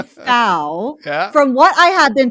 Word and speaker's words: Fow: jewel like a gem foul like wow okay i i'm just